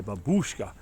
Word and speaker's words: babushka: we often say Babushka we emphasize that the fourth letter of the uh the what looks like a y in the English language it's pronounced like a double o you haven't say babushka but of course it's the a that's emphasized all right more kids